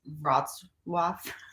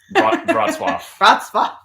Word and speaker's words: Wrocław: It's the way it's spelled is Wrocław, but it's actually pronounced Wrocław. Wrocław.